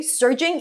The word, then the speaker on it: surging: By the way, surging is rushing or increasing suddenly and powerfully. Surging, as in stir.